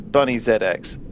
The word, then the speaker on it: Bunny ZX: It's Bunny ZX. The Z and the X are separate.